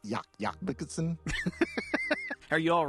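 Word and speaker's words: Jac Jacobsen: norway by a guy whose name looks like jack jacobson but it's pronounced yak yak bikerson are you all right did you do were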